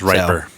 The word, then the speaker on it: Ripper: It's pronounced Riper. What's that? Riper. Riper? No, I'm There's just two P's.